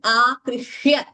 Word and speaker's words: आकृष्य: अत्र रभसादाकृष्य there also we must be careful by pronouncing this akrishya. We should not pronounce an extra k there. It should not be heard as rabhasadakrishya. It is not akrishya. There is no dvitvam doubling there. It is akrishya. This is not a samyuktakshara.